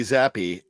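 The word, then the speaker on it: Zappe: playoffs just Z Bailey zappy zappy rhymes with crappy is that okay I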